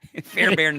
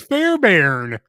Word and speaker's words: Fairbairn: it's not how you, It's Fairbairn. That's the way it's pronounced. Because it looks like it would be Fairbarn, but it's pronounced Fairbairn, right?